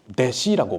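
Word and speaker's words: 弟子: 일본에서 제자 훈련의 목회를 한다는 게 여간 어려운 일이 아니라는 것을 일본말로 제자를 대시라고 발음하고 훈련을 큰렌이라고 발음합니다.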